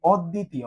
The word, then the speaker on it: অদ্বিতীয়: দেখো, আমরা পেয়েছি কি অদ্বিতীয়। হ্যাঁ, এই যে অদ্বিতীয়, অদ্বিতীয় তুমি উচ্চারণ করলেই বুঝবা যে এইখানে ড কিন্তু হবে কয়বার, দুইবার হবে, অদ্বিতীয়।